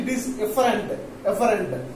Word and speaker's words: efferent: So pronunciation is very important. An afferent arteriole, and it gives rise to an efferent arteriole. So only that the variation is that is afferent, it is efferent.